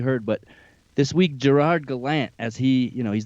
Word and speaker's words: Gallant: reporters asked him about his name and the pronunciation of his name because a lot of people have been calling him gerard gallant for so long and he said in fact it's gallant i guess were you shocked by that at